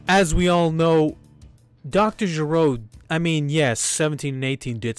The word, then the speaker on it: Gero: Gero, which is the right way to say his name, the way that the